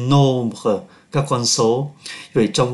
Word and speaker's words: nombres: tiêu khiển, les nombres, M đứng trước B, phát âm là N, les nombres, các con số.